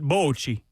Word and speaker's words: Bocce: Oh, Bocce goes all the way back to the Roman Empire. Well, they pronounce it Bocci.